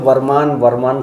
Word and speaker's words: बरमान: अच्छा, ब्रह्मा जी की वजह, वही तो बरमान समझ में नहीं, शुद्ध नाम इसका ब्रह्मांड घाट है जी। अंग्रेजी शासन में अंग्रेज लोग किसी चीज़ को, क्योंकि अंग्रेज लोग किसी चीज़ को शुद्ध तरीके से उच्चारण नहीं कर पाते थे जी जी। तो ब्रह्मांड घाट को ब्रह्मांड घाट ना कह के बरमान कहने लगे, तो बरमान नाम पड़ गया।